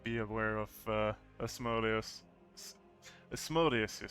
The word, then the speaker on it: Asmodeus: Asmodeus, that's the one.